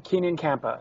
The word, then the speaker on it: Keenan Kampa: name is Ken kampa is that how you pronounce it yeah Kenan Keenan kampa okay Ken kampa she's beautiful she's uh I